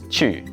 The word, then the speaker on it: 去: Q.